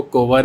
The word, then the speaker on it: Kunwar: Actually क्या है, मेरा जो नाम है वो कोवर ही है, लेकिन लोग इसको ना गलत प्रोनाउंस करते थे क्योंकि इसमें KUNW आता है, तो एल ना लोग वो क्या होता है साइलेंट रहता है। एक्चुअली कोवर है, लोग कुनवर कुनवर करते रहते थे।